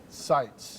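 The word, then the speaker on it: Sitze: it you can sights sites that's easy right like sights and sounds but it's spelled differently exactly yeah okay so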